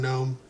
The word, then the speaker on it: GNOME: It's just, I've never been one that's had a problem with GNOME, And yes, it's not like Garden Gnome. It's supposed to be pronounced GNOME, but who cares?